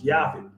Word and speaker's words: Japheth: half country we say we pronounce the J and say japheth or japheth but it's yafi so it says the